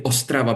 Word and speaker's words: Ostrava: Yes, it's actually Ostrava because in Czech there is the stress falls upon the first syllable, so that's quite an easy language when it comes to stresses.